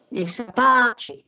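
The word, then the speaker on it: Nech sa páči: Okay, so the stress is on the first syllable. Niech sa páči.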